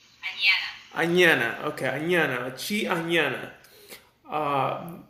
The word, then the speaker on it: Anana: I'm here with AI Anana is how you pronounce it like banana right an Anana okay Anana Chi Anana